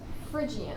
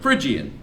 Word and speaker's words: Phrygian: it okay the third mode is what it's phrygian phrygian that's how it's pronounced how do you build a phrygian mode